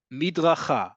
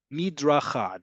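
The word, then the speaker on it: מדרכה: Midracha or Midracha, depending on how you say the letter Rish.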